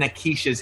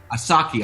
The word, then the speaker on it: Asaki: find out what's in Akisha's head. Am I saying it right? Asaki. Asaki. Let me write that down. Oh, Asaki, I got it now.